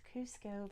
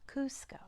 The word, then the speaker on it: Cusco: do you know you do know it is Cusco very good Cusco just like have you all seen ERS new